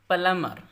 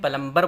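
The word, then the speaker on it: plumber: प्लमर, प्लमर नलसाज, इसको आमतौर पे इंडिया में प्लम्बर बोलते हैं, वो भी चल जाएगा लेकिन असल है प्लमर, प्लमर।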